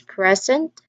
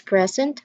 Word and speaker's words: present: Yeah, obviously the first syllable is the one that is stressed. And when we say that the first syllable is the one that is stressed, we identify the word as noun or an adjective.